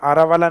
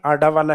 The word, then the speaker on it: अरावली: अब लिखने में इसको इंग्लिश में डी को आर लिखते हैं, तो ये हिंदी में जब प्रोनाउंसिएशन होता है तो कई बार किस नाम से आता है, आरावाला, कि आरावाला माउंटेन। आरावाला माउंटेन कहाँ है, तो ये आरावाला नहीं आडा वाला है, तो यहाँ आरा वाला